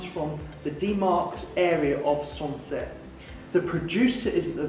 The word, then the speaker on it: Sancerre: the region which is sunset pronunciation is song origin so sansei is actually